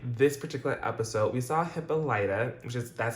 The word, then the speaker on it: Hippolyta: particular episode, we saw Hippolyta, that's how they pronounce it here. I've heard other pronunciations, but I'm gonna go with Hippolyta because that's how they pronounced it here.